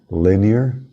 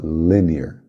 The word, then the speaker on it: linear: atenção na pronúncia aí linear ênfase é no primeiro na primeira sílaba linear linear Quad como se